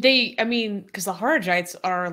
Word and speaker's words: Kharijites: I think it's really interesting how they came from the Khajarites. Yeah. That's how you say it, right? Well, not. Kharijites? Kharijites, thank you.